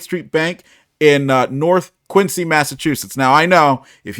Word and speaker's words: Quincy: worked at State Street Bank in uh North Quincy Massachusetts now I know if you're from up there you say it's quiny uh which is how they pronounce it there but that meant riding the